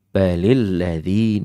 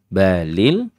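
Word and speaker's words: بل الذين: di ayat yang ke-22 ada kalimat balilladzi tidak balil ada namanya Hamzah wasal itu dianggap tidak ada kalau dia berada di tengah-tengah kalimat dia akan ter dianggap ada kalau dia di awal kalimat dan hamzah wasal ini bisa A bisa i bisa u di awal kalimat tergantung dia nanti kalau bertemu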